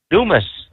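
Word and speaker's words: Dumas: Dumis. Dumis. Or as the French would call it, Dumois.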